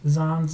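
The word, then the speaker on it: Xon: And to answer your second question, Thomas, how to pronounce Zon's name. Even though it's spelled with an X, it's actually Z-O-N. I took the pronunciation off of xylophone.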